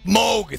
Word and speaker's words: Moog: right up my ass is it is it Moog smoke Moog thank God uh when they first got their